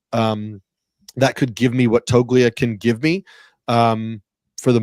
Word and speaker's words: Toglia: I believe, according to Baseball Reference, it's Toglia, and you corrected me on like 15 names last year on the Rotoworld show.